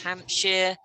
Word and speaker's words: Hampshire: a few things now you know how to do shire isn't shy but sure like yorkshire a lot lots and lots there's yorkshire there's hampshire there's um i don't know devonshire all of these things have a sheer sound now promise me you're